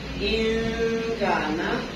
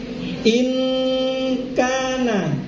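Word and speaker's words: إن كان: Membacanya adalah in gitu aja, jangan ing salah. In kana. Gak boleh ing kana salah.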